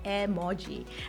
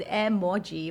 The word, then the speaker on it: emoji: And the original pronunciation of emoji in Japanese is actually emoji.